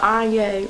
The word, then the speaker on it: Anya: The world is not gonna be ready for Anya, rhymes with Kanye, Yonce, whatever you wanna say.